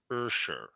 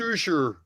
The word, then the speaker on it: Usher: See now, my kids told me it was pronounced Ursher. Ursher. All right, that was Further, it's pronounced Usher.